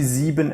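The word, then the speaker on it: sieben: that into your brain you see zebon and seven they are pretty much the same the B and the V if you speak Spanish you will have learned that the B in Spanish they pronounce very softly at times yeah so they would say zeen zeen so it's very close to seven already not much to remember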